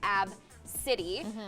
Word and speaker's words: Abcde: you ABCDE is how you spell it it's pronounced AB city and you know obviously you would never want